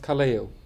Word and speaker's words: Kaleo: in iceland take icelandic yes so it's uh pronounced kaleo yeah sounds very german that's crazy but you